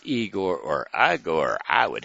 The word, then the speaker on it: Igor: and how about Igor well I Gor either way it's pronounced I Gor he'll ask you but